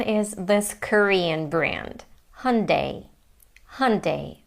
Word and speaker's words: Hyundai: This is how they say in the US and to me the American way of saying it sounds closer to the original Korean pronunciation. Hundai hyundai hyundai. And it's interesting that in British English they say it completely differently. They say Hyundai Hyundai.